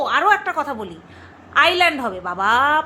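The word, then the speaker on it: Iceland: বলি আইল্যান্ড হবে বাবা প্রথম ভিডিওটাতে আমি ইজল্যান্ড বলেছি আইল্যান্ড প্রত্যেকে আমার ভুল শুধরে দিয়েছো তার জন্য অসংখ্য ধন্যবাদ আইল্যান্ড আমি জানি ওটা আইল্যান্ড কিন্তু অনেকে ইজল্যান্ড বলে আমি শুনেছি ইজল্যান্ড উচ্চারণ শুনেছি তো যাই হোক শোন করমা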